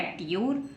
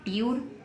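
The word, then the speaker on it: tour: हम करते हैं लेकिन क्या बन गया टूर है ना ट्यूर तो हम इसको ट्यूर नहीं पढ़ेंगे यह गलत है इसको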